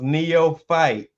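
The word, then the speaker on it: neophyte: eastern time um make sure you check oh he said it's pronounced Neo fight it means beginner okay okay thank you for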